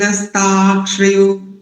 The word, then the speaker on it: नस्तार्क्ष्यो: दो त्रुटियां हैं आपकी, देखो प्रथम वाली त्रुटि देखो पहले, नस्तार, नस्तार्क्ष, फिर यो को अलग कर दीजिए, नस्तार्क्ष यो। देखो इस उच्चारण के लिए मैं इंग्लिश के अल्फाबेट्स आपको देता हूं, NAS, नस, TARKSH, नस्तार्क्ष, और यो को आप कर सकते हैं।